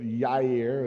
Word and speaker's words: Jair: Jair, we say it with a southern accent, but Yair is the correct way to say it, was one of the judges.